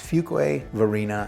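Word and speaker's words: Fuquay-Varina: Fuquay, Fuque, all kinds of different things we get, but it's Fuquay Varina.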